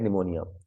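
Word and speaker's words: pneumonia: महीने में सी head निमोनिया उसको निमोनिया हो जाता है ठीक है ये पी जो लिखा पीस साइलेंट है इसमें सी वुड लिए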